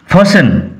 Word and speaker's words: fasten: The old lady fastened one end ফসেন উচ্চারণ লক্ষ্য করো, টি will remain silent, T silent থাকবে।